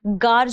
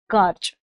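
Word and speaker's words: gorge: में होती है तो उन्हें हम गार्ज बोलते हैं हालांकि इसमें चंद्र बिंदी नहीं इस तरीके से आ गार्ज ठीक है स्पेलिंग में जी ओ आर जी है ध्यान रखिएगा ठीक है एग्जांपल के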